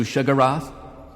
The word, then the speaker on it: Sheogorath: Have you come to be of service to Shigarath? Despite putting that in the video, and pointing out that this is the pronunciation of the name that Morrowind gives you, people still leave embarrassing comments about how I said the name wrong.